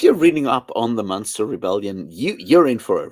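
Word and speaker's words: Münster: it's Munster, like the okay, I It's a see.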